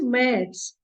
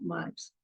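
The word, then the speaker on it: März: there are two dots above a it is pronounced as a and not a or a it is a so it is Ms and not marks in my other video called German alphabets I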